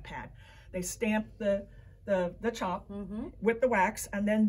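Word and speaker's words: tjap: or uh they create something called a chop which again isn't spelled like c-h-o-p it's spelled t-j-a-p and uh that's just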